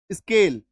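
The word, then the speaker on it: scale: एस सी ए एल ई, स्केल, एस सी का उच्चारण क्या हो गया, इसका आधा स क।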